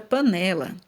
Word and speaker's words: panela: Vamos torcer agora pela palavra panela. Panela, panela. Então, percebemos aqui, ó, que o né é a sílaba mais forte, ou seja, o né é a sílaba tônica.